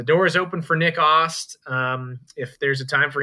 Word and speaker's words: Ast: It's Ost, Nick Ost. Yeah, weird pronunciation. Looks like Ast, just spelled A-S-T.